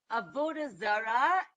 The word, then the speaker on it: Avoda Zara: correct you know the the right emphasis on the end of the syllables etc but I hear so Many people call it a vod a vodara.